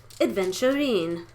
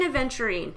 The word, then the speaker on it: aventurine: going to be green adventurine now green aventurine is not spelled like a venture it's not no d there's no d in adventuring green aventurine this is a great